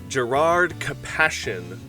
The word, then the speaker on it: Gerrard Capashen: and we're talking about Gerard kassion uh I'm that's how I pr have always pronounced this card I'm pretty sure that's how it's pronounced but let me know in the comments if you guys say it differently Gerard compassion is a